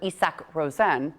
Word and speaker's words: Isak Rosen: Something to note, though, that the Sabres did call up Isaac Rosen from Rochester yesterday, or Isak Rosen, depending on how you want to pronounce it.